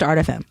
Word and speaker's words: ARTxFM: It's really just Art FM. Okay. Yeah. Pronunciation wise.